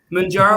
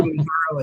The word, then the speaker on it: Mounjaro: Am I saying it right? Mounjaro or Mounjaro is both.